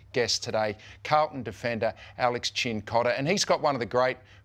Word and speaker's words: Cincotta: And I've always been worried about saying your name wrong. It's Cincotta, right? It is, yes. Yes, Cincotta.